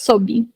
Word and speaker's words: sob: The pronunciation is sob. Sob. Like sobre, mas sob. Stops in the B.